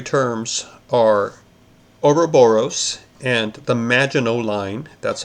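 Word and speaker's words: Maginot: are oroboros and the magino line that's how you pronounce that even though the word ends with the T it's French and in this case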